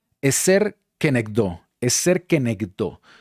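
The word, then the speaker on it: עֵזֶר כְּנֶגְדּוֹ: Y lo que estoy remarcando se pronuncia eser kenekdó.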